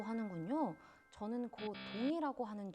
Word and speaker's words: 거둥: 국왕 거둥이라고 하는군요. 저는 거동이라고 하는 줄 알았습니다. 익숙하지 않은 말이네요. 거동이라는 표현도 틀린 말은 아닙니다. 한자로는 거동이라고 적고 거둥이라고 읽는 것이기 때문입니다.